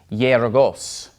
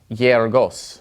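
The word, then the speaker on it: γεωργός: an epsilon like this, it's more like a Y sound, okay? So this word is pronounced yergos, yergos, all right?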